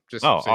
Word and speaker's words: Asim: His name is pronounced Awesome.